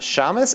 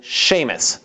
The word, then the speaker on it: Séamus: And no, it is not Samus, and it's not Seamus. It is Séamus.